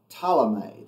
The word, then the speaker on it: Ptolemy: fall under the general talomay that's p-t-o-l-e-m-y polymer ptolemy the first and ptolemy comes in there i think the p is silent but he comes in